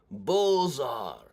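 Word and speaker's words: Beaux-Arts: here I believe yeah Bulls are that is pronounced I always feel weird pronouncing it like that if you don't know what it's spelled like it's just it's like bizarre architecture but that was very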